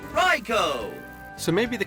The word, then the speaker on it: Raikou: And as we all know, it's not Raikou, it's Raikou!